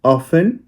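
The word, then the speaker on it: often: फिर है ऑफेन। ऑफेन में टी साइलेंट होता है।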